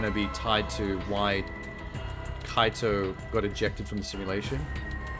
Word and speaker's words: Kaito: said before about if it's Taiko taika no wait kaito sorry I'm saying his name wrong if it was him